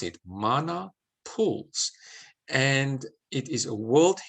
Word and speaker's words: Mana Pools: beautiful park it's called mana pools that's how pronounced it mana pools and it is a world heritage site you're